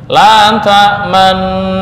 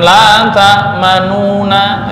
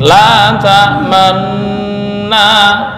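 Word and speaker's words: لا تأمنّا: La ta'manna, bukan la ta'manuna ya, seolah-olah, tapi la ta'manna ya, siap mengucapkan harokat dhammah tapi suaranya nggak ada ya, hanya gerakan aja ya.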